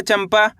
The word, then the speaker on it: चंपा: क्यों पढ़ा अपन ने चंपा?